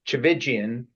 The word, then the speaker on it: Tchividjian: Speaker 2: SoStephen, the way you say his name in American English, Stephen Chivijan was always Stéphan Chivijan to me because I grew up in Switzerland and Stéphane's father grew